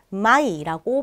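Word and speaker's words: Mai: 5월은 마이라고 발음을 하게 됩니다. 마이, 아이 발음 기억해 주시고요.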